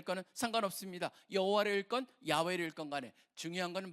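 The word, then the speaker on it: 야훼: 붙여 가지고 만든게 바로 여호와예요. 그러다 보니까 우리 성경에 다 여호와로 번역이 돼 있습니다. 우리 계신교 성경에. 근데 캐톨릭 같은데 야외로 돼 있고 실질적으로 학자들이 연구를해 보니까 야외가 더 원래의 발음에 가깝다라고 학자들이 보다 보니까 이제는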